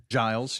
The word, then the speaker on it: Giles: Keep an eye on that storm in Giles County, I think is how you pronounce it. Giles, yeah.